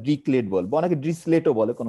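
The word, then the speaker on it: Dirichlet: function বলে পড়ার চেষ্টা করছো দুই একজন একবারও ডিসলেট বলে অনেক উচ্চারণ করে ড্রিকলেট উচ্চারণ করে খুবই নামকর একজন ম্যাথমেটিক সম্ভবত জার্মান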